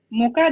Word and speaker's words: мука: Y eso sí, por ejemplo, мука для пирогов, harina para pasteles, мука, acento en A.